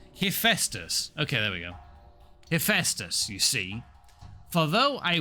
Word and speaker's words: Hephaestus: But I am not I've already forgotten how to pronounce it. Heck, goodness me. Scrolling up the chat. Hephaestus. Okay, there we go. Hephaestus, you see.